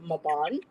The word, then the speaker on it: Mabon: wonderful um weekend um we just had maybon blessed Mayon or maon as um some people pronounce it spring equinox fall